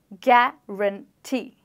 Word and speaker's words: guarantee: with our hand here, guarantee. So my chin drops thrice this means that this word has three syllables and this word requires that I stress on syllable number three.